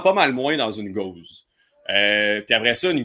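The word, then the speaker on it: Gose: m je bonsoir alors une Gause qu'on prononce Gause et non guse euh c'est une bière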